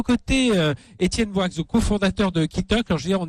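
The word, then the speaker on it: Quitoque: À vos côtés, Étienne Boix, cofondateur de Kitok. Alors, je veux dire, on est dans la. Alors Kitok, pour ceux qui nous écoutent en radio, ça s'écrit QUI Tok, comme la toque d'un cuisinier.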